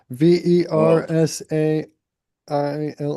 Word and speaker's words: Versailles: V E R S A I L L E.